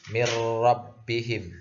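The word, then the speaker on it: مِن رَبِّهِم: Misalnya nun mati bertemu ro, dibacanya mirrabbihim, tidak ada dengungnya sama sekali.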